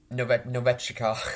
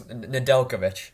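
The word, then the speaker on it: Nedeljkovic: uh fleury saves 31 out of 37 nov novechika i can't say his name my alex nadelkovich there you go adelkovic shaves 32 out of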